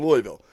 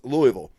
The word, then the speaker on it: Louisville: Matthews here in Louisville Louisville I even said it wrong I live here Louisville goddamn its Louisville don't say Louisville because in